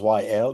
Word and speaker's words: Wael: to introduce myself with the two initials, Y L, because that's how my name is pronounced.